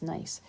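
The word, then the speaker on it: gneiss: pressure can turn into nice and it is pronounced nice so these metamorphic rocks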